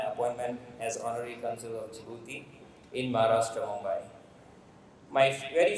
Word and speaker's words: Djibouti: it the jouti so the pronunciation is jibuti and not Djibouti so that is the